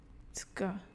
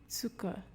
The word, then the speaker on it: Zucker: Die Aussprache von Z, which gives a TS sound. Zucker, Zucker, Zeit, Zeit, Zebra, Zebra.